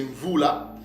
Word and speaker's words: Mvula: Donc ce mot-là ne se prononce pas Moed, mais c'est Mvula.